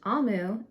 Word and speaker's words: Omu: ogemora note to reader amu pronounced amu is the igbo term for queen thank you amu on